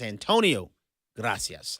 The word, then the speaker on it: Antonio Gracias: It's Antonio Gracias. I'm sorry for that mispronunciation.